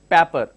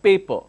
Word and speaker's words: paper: pa pe are some part of the state pronounces that as people some part of this is pepper so it's not pepper its paper for example the word class CL a SS